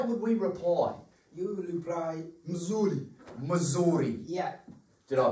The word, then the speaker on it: mzuri: You reply, mzuri. Mzuri. Yeah. Did I pronounce that correctly?